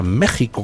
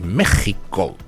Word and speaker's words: México: Son infinidad los libros mexicanos editados en Ciudad de México después de la independencia, donde se escribe México con J. Se ha estado escribiendo indistintamente con J o con X, que se pronuncia J, pues toda la vida de Dios.